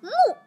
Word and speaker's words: 目: The pronunciation for eye is mu, mu.